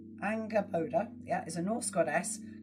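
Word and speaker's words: Angrboda: How do you pronounce her name? Angraoda. So let me read what it says about her. I'll show you a picture of it. Angraoda. So, let's see what it says. Angaboda.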